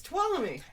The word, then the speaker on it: Tuolumne: It's Tuolumne.